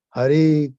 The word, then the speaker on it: Hari: doesn't go inside so by pronouncing is properly Hari Krishna Hari Krishna that goes deep into the heart and then it shakes